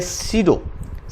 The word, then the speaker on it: pseudo: Okay, P is silent over here. You can say pseudo class.